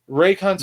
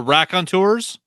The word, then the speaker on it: Raconteurs: Raycontours. No. The Raconteurs? Yeah, Racontours. I can't say the word right.